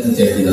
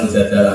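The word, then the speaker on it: المجادلة: Memang Mujadilah itu beberapa ulama bacanya Mujadilah, perempuan yang mendebat Tuhan. Tapi ada ulama yang baca Mujadalah karena diambil maknanya kan jadalah yujadilu mujadalatan.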